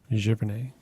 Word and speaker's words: Giverny: When we visited France, it was the wrong time of year to go to, is it Giverny? I'm not sure how you say it. Yeah, that's correct. Giverny.